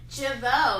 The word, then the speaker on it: Jeuveau: Jeuveau. It rhymes with hello.